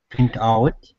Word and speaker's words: print out: print out uh uh did you say uh when we when you when we use this word as a verb then uh stress should be on out print out so as rafael pointed out when we use it as a verb it's separated but yeah i would put the stress on the out so since it's a